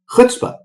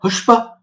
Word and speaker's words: chutzpah: So the ch sound is not necessarily one that's very common to us. I've seen it pronounced chutzpah. I mean, if you look at the ch, it can sound as like a k, as in the word character or chaos. It can sound like ch, as in I'd like some of that chai tea.